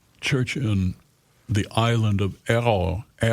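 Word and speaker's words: Ærø: So now he's a pastor of a church in the island of Errol, which is unpronounceable by Americans. Right. It's an A-E-R-R-O-U. And Errol. That's close. Good enough.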